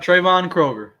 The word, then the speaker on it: Traevon Kroger: is that all you say your name yep Trayvon Kroger all right the kid Cobra how you doing